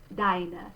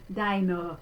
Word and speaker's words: deine: Notice that the final sound, that upside down E, that's a schwa or schwa in German, and it's their unstressed syllable, It's a bit different from how we do that in English, because we would, if we said this kind of English, it would be deine, and it would fall very far back.